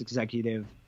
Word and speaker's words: XECVTIVE: I'm working on a art project that people can find online that it's pronounced executive, but is spelled kind of funny, spelled XECVTIVE.